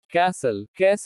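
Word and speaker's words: castle: T is silent in certain words. कुछ शब्दों में T का उच्चारण नहीं होता। कैसल किला।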